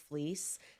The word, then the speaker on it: Fliess: If you want to look up this guy, Wilhelm Fleece, Fleece is spelled Fleiss.